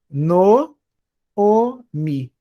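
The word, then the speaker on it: נָעֳמִי: Se a primeira sílaba tiver um kamatis, esse vai ser catana. Então eu leio essa palavra, esse nome próprio, como no omi.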